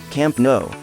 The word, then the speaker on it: Camp Nou: Camp Nou, Catalan pronunciation.